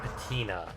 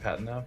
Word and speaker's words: patina: It's got the weird patina that bronze gets. I believe it's pronounced patina, but yeah, I know what you're saying.